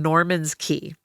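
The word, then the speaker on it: Norman's Cay: They touched down on Norman's key. Okay. And this place, you know, and it's Norman's K key. Like they're different, you know, people pronounce it K. People pronounce it key because the Florida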